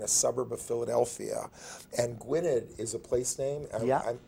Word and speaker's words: Gwynedd: suburb of Philadelphia and Gwynedd is a place named yeah am i pronouncing it correctly pointed with that so the double D is like a th yeah but it's hard